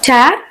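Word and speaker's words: tear: ரெண்டு மீனிங் இருக்கு இல்லையா ஃபர்ஸ்ட் வந்து என்னன்னு பார்த்தீங்கன்னா கண்ணீர்னு சொல்லுவோம் அதாவது நவுனா நம்ம வந்து யூஸ் பண்றோம் அந்த டைம்ல நம்ம வந்து இதை டியர் ஆர் ஆர் ப்ளூரல்ல டியர்ஸ் அப்படின்னு நம்ம சொல்லணும் வேர் அஸ் ஒரு வெர்ப நீங்க யூஸ் பண்ணும்போது டேர் டோர் டான் அப்படின்னு நம்ம சொல்லணும்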